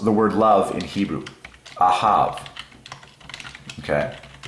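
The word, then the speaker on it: אהב: Ahav is how you say it in Hebrew.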